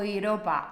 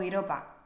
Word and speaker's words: Europa: las vocales por separado por ejemplo mis estudiantes alemanes siempre me dicen o Europa o Europa no e Europa Europa o mi nombre